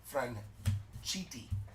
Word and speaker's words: Franchitti: Tyler Fitzgerald, silver portraits, and mini A&G of Franchitti.